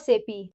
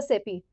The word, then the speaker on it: SAP: understand first as I said we have to pronounce not SAP. We have to pronounce as a SAP. SAP abbreviation is system application and products in data processing. We should pronounce as SAP not SAP.